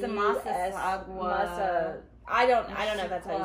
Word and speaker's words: Massasauga: and the mashuga. Uh-huh. We have those two. Is that how you pronounce it?